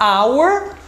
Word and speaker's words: hour: consoante tem caso que o h é mudo então por exemplo na palavra hour que é hora então se eu for falar our o som vai ficar de vogal ao invés do do